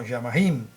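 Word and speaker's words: שָׁמַיִם: Cielo, en hebreo, se pronuncia como Yamahim, contracción de la voz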